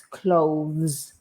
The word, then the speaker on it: clothes: And we didn't mention about how to pronounce clothes. It's a bit tricky because there's lots of consonants at the end. Yeah. So we have this, the final sound is z.